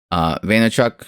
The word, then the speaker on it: Vaynerchuk: Vaynerchuk, right?